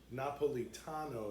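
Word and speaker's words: napoletano: And they speak Napolitano is how you say it, but the the dialect is Napoli.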